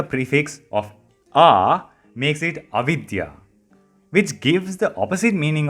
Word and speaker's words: Avidya: If I slow it down, Avidya. Avidya. Avidya is a word used to describe everything that rejects science. Vidya means science, and adding a prefix of a makes it avidya, which gives the opposite meaning of science.